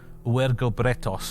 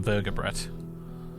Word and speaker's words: uergobretos: But I think the more recent consensus is that it should be uergobretos, because the Gauls did the same thing as the Romans, where they pronounced all their V's as U's.